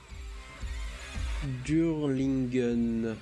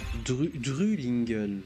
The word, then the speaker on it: Drulingen: Durlingen. Drulingen, pardon.